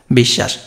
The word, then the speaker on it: বিশ্বাস: তাহলে আমাদের প্রথমে দেখো বিষ, এখানে জাস্ট বিষ, তারপরে কি শ্বাস, প্রথমে বিষ তারপরে শ্বাস, লাস্টে কেন তালব্যস্য হলো দেখো, দন্তস্ব থাকলে কি হয়, দন্তস্ব মূর্ধন্যস্ব তালব্যস্য থাকলে তালব্যস্যই হবে, বিশ্বাস।